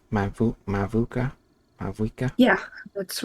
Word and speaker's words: Mavuika: I still don't know how to pronounce her name. Mavuka? Mavuika?